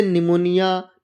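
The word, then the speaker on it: pneumonia: एस से पहले पी हो तो पी प्राय साइलेंट रहता है। कैसे? जैसे निमोनिया, न्यूमेटिक्स, साइकोलॉजी और साम।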